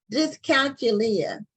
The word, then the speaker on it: dyscalculia: I think it's pronounced dyscalculia. Okay. It's like calculus. You know, it has that root in there of calculus.